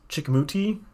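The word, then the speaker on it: Chicoutimi: half at 40 they could probably flip uh chickamauti that's how you pronounce that and then once you get coast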